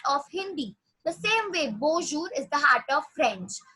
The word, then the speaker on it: bonjour: the French language is bonjour. Bonjour. So I would give you over here a pronunciation technique. Okay. In almost all the salutations starting with bon or bo, the letter B-O-N is pronounced as bo.